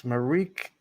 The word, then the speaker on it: Marieke: early from mariek and i don't know how to pronounce marik's name it is marieke it's on the let